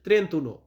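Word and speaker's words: trentuno: এর পর শিখব 31 31 এটার ইতালিয়ান হবে ত্রে উনো ত্রেন্ত উনো মানে হচ্ছে 31 বা অনেকে ত্রেন্তা বলতে পারেন তবে এখানে ত্রেন্তা উচ্চারণটা আসে না উচ্চারণটা আসে ত্রেন্তন এখন আছে 32 32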